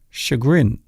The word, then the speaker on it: chagrin: Most people mispronounce this particular word. The word is chagrin. Chagrin.